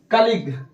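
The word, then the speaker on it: colleague: you silent राहत है जैसे कलीग ये लास्ट में क्या आया है जी यू ए आया है को नहीं पढ़ेंगे या यूं को नहीं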